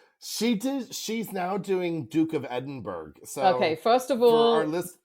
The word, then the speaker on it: Edinburgh: So Duke of Edinburgh is Edinburgh.